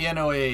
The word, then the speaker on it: NOAA: NOAA is pronounced NOAA, just like NASA. Say it, don't spell it.